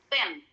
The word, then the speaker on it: thin: Next, kita ada kata thin. Jadi, di dalam bahasa Inggris ya teman-teman, huruf TH itu harus dibacanya tuh di depan. Hampir kayak huruf F.